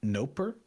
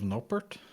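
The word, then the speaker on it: Noppert: Did he just say Noper instead of Nopert? Yeah, he said, I think every American broadcast has said Nopert. No, I don't think he's saying the T because I think he's pronouncing it like it's French. No père.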